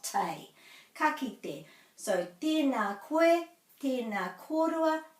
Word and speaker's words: ka kite: So the farewell, which is often mispronounced, very often mispronounced, is ka, ki, te. So again, this isn't te, it's te.